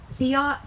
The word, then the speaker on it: theodolite: His job was using I looked up the pronunciation of this word and I practiced, and now theodolite.